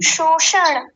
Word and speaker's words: शोषण: ये जो सबसे पहले जो श आया वो तालव्य शकार है और जो बीच में जो है वो वो मूर्धन्य शकार है।